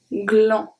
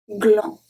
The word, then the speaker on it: gland: So when you have a G at the beginning, follow either by R or by L, it's going to stay as a hard G.